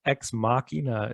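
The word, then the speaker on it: Ex Machina: is x machina and i believe it's x machina is the correct enunciation oh okay but yes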